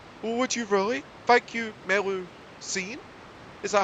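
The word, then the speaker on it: Melusine: Thank you, Melu Scene? Is that how you pronounce that?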